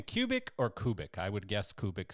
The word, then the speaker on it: Kubik: that's uh that's the right uh the right pronunciation so forever more it will be kubic and I think I said it right in